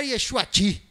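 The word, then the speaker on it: ישועתי: novo deixa eu falar yeshuati quem quiser deixa Henry quem quiser fala Yeshua ti que é a pronúncia correta e isso eu tô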